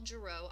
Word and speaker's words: Girot: I am Girot, R-A-C-H-E-L-G-I-R-O-T. It's French, so the T is silent.